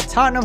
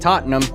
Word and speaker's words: Tottenham: And yes, it is pronounced Tottenham, not Tottenham. The language is named after you, English. Use it correctly for once. I don't understand. As a fat American, why would you not emphasize the ham?